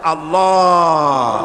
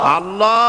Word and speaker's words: আল্লাহ: আল্লাহ পাকের উচ্চারণটা হচ্ছে, আল্লাহ পাকের নাম উচ্চারণ হচ্ছে আল্লাহ। মুখটা একটু গোল হয়ে যাবে, বলেন আল্লাহ আল্লাহ।